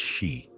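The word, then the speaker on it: 四: In Japanese numerology, the number four is pronounced she, which also means death.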